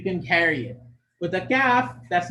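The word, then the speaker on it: ك: But like the letter Ta, the letter Kaf is unable to carry its sound when it's second.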